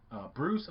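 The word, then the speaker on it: Breus: Michael Bruce Bruce I think it's pronounced but it's not spelled like Bruce the name but the full title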